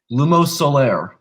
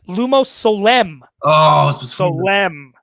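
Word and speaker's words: Lumos Solem: on the way to the stone I'm trying pronounce it correctly LUMO Solaire that is unfortunately incorrect it is Lumos elem o Sole M alright your second question which vault at Gringotts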